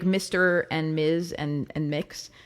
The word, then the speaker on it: Mx: Mr., Ms., Miss, Mix, all of those honorifics. Mix is a gender-neutral honorific you can use in English. Did you know? Now you know. It's spelled MX. It's pronounced like mix, like you're mixing up